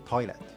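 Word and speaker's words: トイレ: In Japanese pronunciation, the final T is not pronounced.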